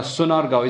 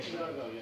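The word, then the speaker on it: Sonargaon: Sunargaon. Is that how you say it? Or is it Shunargaon? Yeah, Shunargaon, yeah. Okay, I better say it properly. Shunargaon, right?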